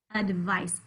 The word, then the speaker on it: advice: advice about books advice you can hear that schwa in the beginning in the first syllable you'll hear that the sound in the beginning of a word often spelled with a again advice afraid all those words have a schwa at the beginning roll he will roll